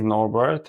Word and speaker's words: Norbert: So, if you can pronounce it like you like people to call you. Sure. Um, is Norbert.